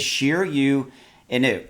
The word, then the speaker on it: Shiryo Inu: And I realize that looks like it would be Sheer Yo, but it is Sheer You.